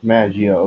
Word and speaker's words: Maggio: Maggio, okay, that's how you pronounce it.